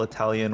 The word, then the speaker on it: Italia: I never knew the official Italian way of pronouncing Italy was Italia.